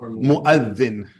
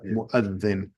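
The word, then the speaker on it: مؤذن: Mu'adhin. Yeah, you have to stick your tongue out a little bit from the word that or the letter. Yeah. Mu'adhin.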